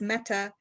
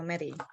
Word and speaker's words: Mette: here with our friend mette meti i always blow the first name is it mette or metis um it's a danish name and it's supposed to be pronounced meta but my mother's name